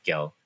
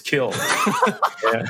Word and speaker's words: Kil: The middle name is actually funny, spelled Kil, so that's why they always pronounce it by like Gil.